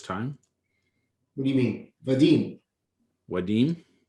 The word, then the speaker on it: Vadim: what do you mean vadim wadin how are you saying i'm saying with a v like a hard v but this is like